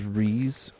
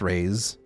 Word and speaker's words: Rees: The Empire in my story is Rees, or pronounced Rays.